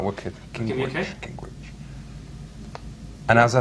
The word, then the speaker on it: Gingrich: Gingrich. Gingrich. Gingrich. All right, wicked. Gingrich.